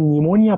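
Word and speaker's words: pneumonia: لو هي بروكسيمال بحرف البي تعمل نيمونيا بحرف البي، ما النيمونيا اولها بي بس هي مش بتنطق.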